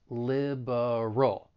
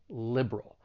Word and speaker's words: liberal: when pronouncing this word the stress is on the first syllable and you may say it with three syllables liberal however because of elision